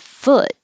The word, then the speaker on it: foot: the ooh sound food but foot has the uh like took so don't round your lips and keep your jaw